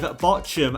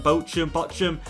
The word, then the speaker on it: Bochum: simulate, which is against a newly promoted side, Bochum, I believe is how you pronounce them, Bochum.